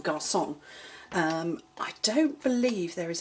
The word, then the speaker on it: garçon: So that is the French C with a little sort of tail at the bottom, which is pronounced like an S, so you'd see that in garçon.